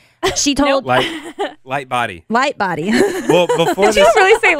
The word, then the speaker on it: Lightbody: So if you're wondering why Snow Patrol, why Gary Lighthouse, she told Lightbody.